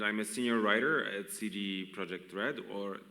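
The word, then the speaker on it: CD Projekt Red: Kuba uh and I'm a senior writer at CG project red or Ted project red as we pronounce it in Poland um and apart from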